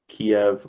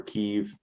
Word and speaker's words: Kyiv: A lot of the troops coming into Kiev or Kyiv, whichever way you want to pronounce it, were actually came in through Belarus.